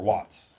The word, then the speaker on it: Watts: Does anybody know who Allen Watt is? Or Watts, excuse me, I should say it correctly if I'm asking.